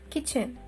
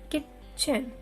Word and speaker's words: kitchen: Next one, kitchen. It is not kitchen. T is a complete silent word.